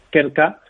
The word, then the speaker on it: Krka: De hecho, la pronunciación ya es complicada, ¿no? Es Krka, KRKA, es una empresa de Eslovenia, eslovaca, líder